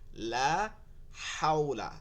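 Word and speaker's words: لا حول: রাব্বি হাওলা লা হাওলা দেখবেন অনেকেই বলতেছে লা হাওলা হাওলা ঠিক আছে না কিন্তু লা হাওলা এটা গলার মধ্যে নিয়ে পড়তে হবে লা হাওলা ওয়ালা কুয়াতা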